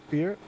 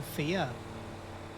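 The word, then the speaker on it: Fiadh: Um I believe her name is Fear. Not to be confused with the person from Twin. You said her name is Fear. No, Thea. Oh, Fia.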